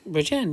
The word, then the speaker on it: Bridgend: Is that how the correct way to pronounce it? Bridgend, yes.